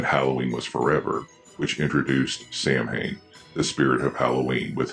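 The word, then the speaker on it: Samhain: And I know that Sam Hayne is actually pronounced sin, but Sam Hayne is how it was pronounced in the series, so that's how I pronounce it here.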